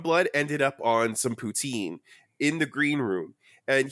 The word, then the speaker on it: poutine: I'm gonna correct my fucking pronunciation of the word. No, you're doing fine. You're whatever. It's poutine. It's like your third language. It is poutine, but that's fine.